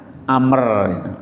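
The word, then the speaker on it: عمرو: itu Ain memerah tapi kalau Umar selain bin Khattab Ain mim roh belakangnya ada huruf wawu itu biasanya membacanya Amr Amr Bin as kol Oh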